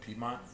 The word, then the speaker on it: Piedmont: vibing Immaculate honestly um we were at what Piedmont yeah that's how you'll pronounce it so it was it